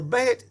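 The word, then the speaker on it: בּ: So the bet phonetically is going to be B, B, like when you say boy.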